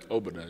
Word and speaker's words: Obodai: Pronounce it right, man, yeah. Yeah? Obodai, yeah.